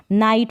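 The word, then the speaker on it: night: तो यहाँ पर भी जी एच को नहीं प्रोनाउंस कर रहे हैं, नेबर पढ़ रहे हैं, क्या पढ़ रहे हैं, नेबर, नाइट पढ़ रहे हैं, टी भी यहाँ पर कॉन्सोनेंट है और बी भी यहाँ पर कॉन्सोनेंट है। इस तरीके से जी एच ऐसी कंडीशन में साइलेंट रहता है, इसको हम प्रोनाउंस नहीं करते।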